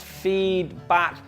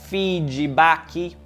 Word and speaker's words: feedback: You can’t say FEEDBACKS - commonly used by students when talking about their work, and it’s pronounced FEEDBACK, not “FEEDYBACKY”.